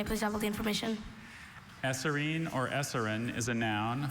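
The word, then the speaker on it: eserine: Esserine.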